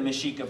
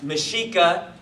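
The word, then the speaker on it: Mexica: um mishika um the mishika were the indigenous people of the northern region of what you would now know as as Mexico okay or Mexico and uh mishika is spelled me X IA okay and this is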